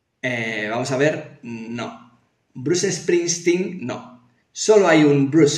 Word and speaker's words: Springsteen: No hay dos Bruces, Bruce Springsteen, no. Bruce Springsteen. Solo hay uno y se llama Bruce Springsteen. Eso se llama S líquida, esa forma de pronunciar la S en inglés, porque en inglés cuando algo empieza por S, no empieza por S, empieza por S. Made in Spain, no.